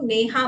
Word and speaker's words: नेहा: For example, अगर मेरा नाम नेहा है तो मैं नेहा को नेहा बोलूं, नीहा नहीं, या या नेह नहीं, है ना।